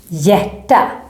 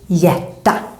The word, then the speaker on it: hjärta: Other examples with HJ, hjärta, heart. Also here, the H is there, but it's silent. So you should just think hjärta.